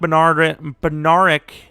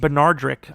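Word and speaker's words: Bednarik: So Chuck Benaric. His name is like Benardrick, I'm pretty sure. It's pronounced weirdly.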